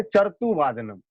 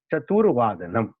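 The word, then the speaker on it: चतुर्वादनम्: तो हो जाता है चरतु वादनम। ये ध्यान रखना चाहिए कि रेफ जब भी लगेगा वा पे लगेगा, तब जाके ये इसका उच्चारण होगा चतुर्वादनम, नहीं तो यहाँ पे हम गलती करते हैं।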